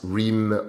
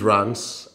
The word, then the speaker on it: Reims: past as well as rheem or Reims it's neither it is runs Rance rhymes with France and that's the the